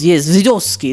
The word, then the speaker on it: Vysotsky: Now, forgive me for my mispronunciation, but Vladimir Vysotsky, is that right? Yes, Vysotsky.